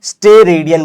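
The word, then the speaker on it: steradian: ध्यान से बच्चों, स्टेरेडियन बोला गया है इसको। इसको हम लोग क्या बोल रहे हैं, STE। इसके स्पेलिंग में गलती मत करना।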